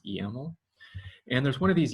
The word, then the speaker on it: YAML: If it files ending in YML, we pronounce YAML.